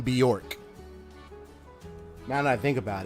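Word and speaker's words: Björk: The name Bjork. Now that I think about it, reminds me of the name Bjork, which is BJ. O-R-K. Bjork.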